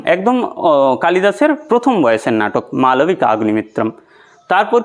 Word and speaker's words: মালবিকাগ্নিমিত্রম: আচ্ছা, মালবিকাগ্নিমিত্রম এটা কিন্তু উচ্চারণটা ঠিক করে করবে। আবার কেউ কেউ বলে, আমি দেখেছি সংস্কৃতের স্টুডেন্টদেরকে বলতে যে মালবিকা অগ্নিমিত্রম, মালবিকা অগ্নিমিত্রম না মালবিকা অগ্নিমিত্রম।